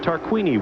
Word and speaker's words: Tarquini: That's right, Tarquini. We've been mispronouncing his name all year.